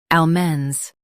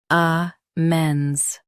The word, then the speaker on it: almonds: ah menz Now, read the syllables of British pronunciation shown on the screen naturally. ah menz ah menz ah menz ah menz In US, stress al. In UK, stress ah.